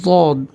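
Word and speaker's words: ض: এরপরের হরফটি হচ্ছে দদ, দদ। দাল এবং জ দুটার মাঝামাঝি, দদ, দদ। উচ্চারণটি হবে দদ।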